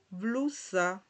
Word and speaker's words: blusa: Que es que en portugués se pronuncia blusa. Blusa cuando está esta letra se pronuncia de esta manera, como si tuviese una Z ahí. Blusa blusa, ¿verdad?